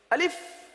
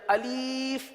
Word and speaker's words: الف: الف۔ اب اس کو الف پڑھنا یا الف پڑھنا یا الیف پڑھنا، یہ غلط ہے۔ تو درست ادائیگی کرنے